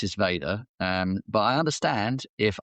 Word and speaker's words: Veda: it was Vader or Veda. Yeah. I I pronounce it Vader, um but I understand if others would pronounce it Veda. Again, if it was Veda, it doesn't have a double e.